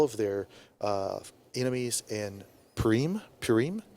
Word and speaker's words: Purim: their enemies in priem purim i think how you pronounce it is now celebrated for